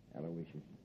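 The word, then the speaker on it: Aloysius: I guess you deserve a break yeah you spell that uh middle name right a l o y s i u s aloicious sure how could I miss it aloicious uh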